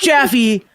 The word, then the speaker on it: Jaffe: It's pronounced Jaffe, like not like toffee, like taffy.